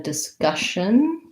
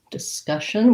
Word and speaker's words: discussion: word was discussion so in a discussion discussion we have second syllable stress uh and this first di could again say d or da basically i just want to have a very short lax vowel there you can almost think